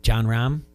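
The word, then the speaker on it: Jon Rahm: It's stories like I think it's John Rahm.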